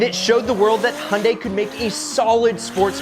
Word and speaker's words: Hyundai: product to dust a Hyundai and remember it rhymes with Sunday here's an example of